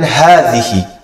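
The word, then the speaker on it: هذه: Number one, we will learn hadhihi. Hadhihi. Hadhihi is the feminine form of the word hadha. It is pronounced as hadhihi with alif, with a mad between the ha and the tha.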